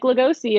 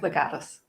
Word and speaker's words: Legatus: My brain was like Lugosi, and I'm like, that is an actor who played Dracula. That's wrong. No, Legatus.